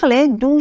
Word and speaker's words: des: d d e s on ne prononce pas le S D ok un une